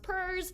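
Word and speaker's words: PERS: political economic religious social p-e-r-s i know it's pronounced purrs but we talk about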